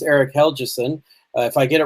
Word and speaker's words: Helgeson: who pointed out that the way to pronounce his last name if I get this right is hell Chisum so that the G is as though it was a jade I don't remember whether that's a softie are hard to I think that's a soft one but any rate it's